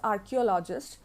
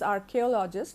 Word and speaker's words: archaeologist: Often people have the habit of pronouncing it as archaeologist, so they make the mistake over there. Actually, this pronunciation is archaeologist because the word has been derived from the word archaic.